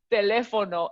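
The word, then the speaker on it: teléfono: more i mean as long as you're saying telefono and not a life oh no you know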